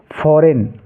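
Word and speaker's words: foreign: ही यहां पर देखिए एफ ओ आर ई आई जी एन इसको हम क्या पढ़ेंगे फॉरेन क्या पढ़ेंगे इसको फॉरेन ऐसे ही एस आई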